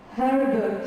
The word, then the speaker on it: herb: It's not herbal tea.